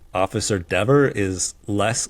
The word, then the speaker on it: Dever: So he said my name correctly. He said Dever.